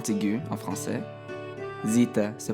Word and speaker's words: zeta: La prochaine lettre est la lettre zeta. Zeta a une grande ressemblance avec la lettre Z en français. Et elle se prononce exactement la même chose aussi.